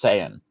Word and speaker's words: Saiyan: It's Saiyan.